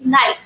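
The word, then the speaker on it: knife: Because the correct spelling of नाइफ इज़ के एन आई एफ ई and here the के is silent. Right? So the correct pronunciation of that word is नाइफ।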